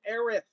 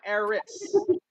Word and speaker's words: Aerith: am into that storyline i chose aerith not eris aerith was the correct pronunciation of the character the japanese version eris was the american